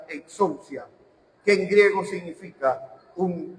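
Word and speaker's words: ἐξουσία: Ahí Juan usa una palabra que se pronuncia exousia, que en griego significa un lugar de privilegio, un derecho y una honra.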